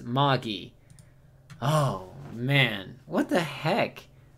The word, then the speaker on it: Magi: what lung kings okay lung king says it's pronounced Maggie oh man what the